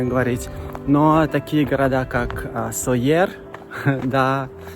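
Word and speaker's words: Sóller: Говорят Майорка, потому что как-то на слуху привыкли мы правильно говорить. Но такие города, как Сойер, да, и в сети, и в интернете, и люди говорят, просто когда видят название, говорят Солер, Порт-де-Солер.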